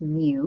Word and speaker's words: mu: is the Latin letter M and it's literally pronounced mu because it looks like an m and a